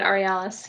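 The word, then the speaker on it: Aurealis: the ARELIS re Ellis award how do you pronounce that Emily yeah yeah you got it re Alice yeah oh yeah yeah okay we do have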